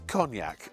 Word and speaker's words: cognac: It's cognac. It's pronounced cognac. It's French.